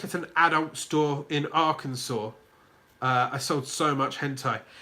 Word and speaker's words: Arkansas: And two, for so long, I'd read an ARKANSAS, and I'd pronounce it Arkansas. Because Arkansas should have a W at the end. Arkansas, not Arkansas.